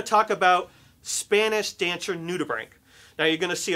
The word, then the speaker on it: nudibranch: It's Nudibranch, and it sounds like bank only with an R. So it's Nudibranch.